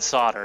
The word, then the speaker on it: solder: solder I know but it's spelled solder yeah I guess the L is silent or something well anyway English English